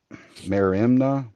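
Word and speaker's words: μέριμνα: In biblical context, New Testament, mer merimna, hopefully I'm saying that right once again, is often That looks right. associated with I'm looking at it here. yeah, Merimna is the pronunciation.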